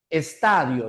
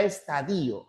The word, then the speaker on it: estadio: Estadio. Ya no existe la palabra estadío, aunque hay muchas personas